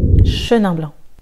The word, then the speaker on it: Chenin blanc: Chenin blanc, Chenin blanc. Le C est silencieux, donc tu ne diras pas Chenin blanc, mais Chenin blanc.